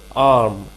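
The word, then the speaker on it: arm: और आर्म, देखिए वो खाने वाला आम नहीं है, आर्म, आर जो होता है वो साइलेंट होता है इसमें, आर्म।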